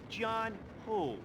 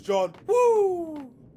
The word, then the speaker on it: John Woo: Didn't even say it right. The guy's name is John Woo.